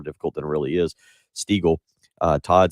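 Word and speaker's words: Steagall: than it really is steagle todd stego s-t-e-a-g-a-l-l is how he pronounces his name and he has won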